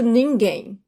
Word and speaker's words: ninguém: Now notice the pronunciation of that final M. To English speakers, it doesn't even sound like an M, right? Ninguém. I do not close my lips when the M is the final, it's the last letter of the word.